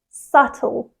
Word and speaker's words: subtle: the correct pronunciation is subtle subtle so here we have the stress on the first syllable and the second syllable is softer and quicker the B is silent and that's where students